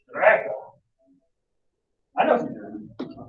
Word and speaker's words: Strecke: to be careful, but it comes from the German word Strecke. You have to say it like that. Strecke.